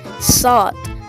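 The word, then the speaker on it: ص: Next is sod. It's like pronounced like a stressed S.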